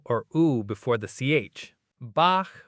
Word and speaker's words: Bach: I have been saying Bach like Bach beer. That is not Bach. Try this. Make a C- sound at the very back of your throat. Now, instead of fully closing, keep a small gap and let air through.